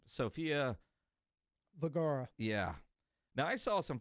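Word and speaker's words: Vergara: Sophia Vagara.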